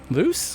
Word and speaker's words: Luce: Luce? God, did I say it wrong already? No, you nailed it.